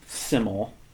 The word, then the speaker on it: SYML: guy who calls himself siml and siml is spelled s yml all in caps and from what whatever research I've done um it's actually not an acronym it's pronounced siml and apparently it comes